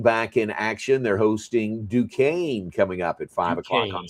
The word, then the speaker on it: Duquesne: They're hosting Duquesne coming up at 5:00 on Saturday. That is Duquesne. Yeah. Duque Not Duquesne, but Duquesne. No, no, it's pronounced Duquesne.